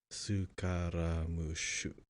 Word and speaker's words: Scaramouche: So those of you who don't know, Scaramouche in Japanese pronunciation is Sukaramushu.